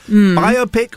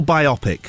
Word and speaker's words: biopic: stress on the first syllable, Yeah, on the bi syllable.